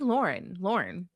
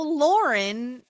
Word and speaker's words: Lauren: It's just like Lauren. Lorne. No, Lauren. It's two. Lauren is two syllables. Lorne is just one.